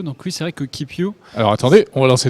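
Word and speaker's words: KipYou: Et nous allons donc maintenant découvrir Keep You. Keep You. Là aussi c'est un jeu de mots. Hein. Oui. Ça s'écrit pas comme ça s'écrirait en anglais.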